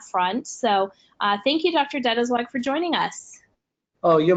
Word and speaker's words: Deitelzweig: Dead is like for joining us oh you're most welcome Kat and really appreciate you even pronouncing my name correct I am like your